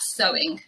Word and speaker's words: sewing: even to decorate something so it's also pronounced the same as the adverb so they are homophones to so and so they're pronounced exactly the same the example sentence is